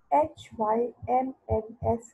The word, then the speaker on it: hymns: Okay, basically the pronunciation of HYMNS is hymns.